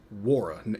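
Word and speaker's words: Nwora: Nora should play. He will. Nora's going to be our... Nora... All right, I think his name is pronounced Wara. You don't pronounce the N, so Jordan Wara.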